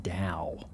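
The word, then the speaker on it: Tao: to our cycle of Dao. T AO is pronounced Dao.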